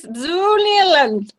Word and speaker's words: Zuniland: Oh, Zoo Nealand is taking off. Oh, unfortunate. Yeah, it is. All right, that's it then. All right, Zuniland it is. All right. I pronounce this Zuniland.